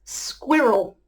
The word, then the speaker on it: squirrel: This is a two-syllable word, squirrel. I guess what makes it difficult is the squih sound.